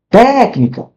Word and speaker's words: técnica: Técnica. Técnica. Tu reparou qual foi a palavra mais forte? Qual foi a sílaba tônica mais forte? essa primeira aqui.